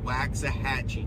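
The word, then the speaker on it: Waxahachie: to be what is uh uh Dan Austin waxah hatchee that's how it's pronounced waxah hatchee Texas then from there we go to Corsicana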